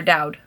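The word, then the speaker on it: Daud: by somaya duode um or dowd so maya dowd i believe is how it's pronounced um this is honestly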